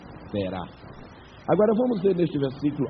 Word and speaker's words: Terá: Creio que se lembram que o nome de seu pai era Tera ou Terá. Ambas as pronúncias são legítimas. Talvez a mais perfeita seja Terá.